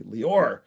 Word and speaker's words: Leor: It's actually an Israeli name and and the actual pronunciation is Leor. Okay, it's hard to pronounce. Nobody wants to say that. So, um and plus when my parents were mad at me, they go Leor. Okay. So, I didn't like that pronunciation and I just decided to call myself Leor and pronounce accent on the first syllable.